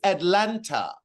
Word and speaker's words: Atlanta: properly pronounce his words it is Atlanta not Atlanta Atlanta Atlanta you see he can't even put the tongue at the roof of his mouth to pronounce his T's properly I'd be concerned about